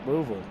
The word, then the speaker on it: Louisville: ever yeah Louisville that's how you say it Louisville all right so they'll probably give us 2830